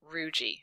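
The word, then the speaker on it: rugae: in your head uh did you say rui because that's how you say it ruji it's like algae except ruji it's it's BL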